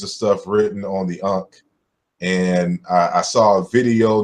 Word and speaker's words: ankh: word Punk but what the simple of the unka is how we evolved and what it means